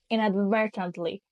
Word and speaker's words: inadvertently: we have the word inadvertently and the stress is on the second syab inadvertently so inadvertently means without